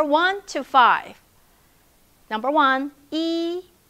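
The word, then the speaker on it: 一: number let's start from number one e e it's high flat tone e e okay number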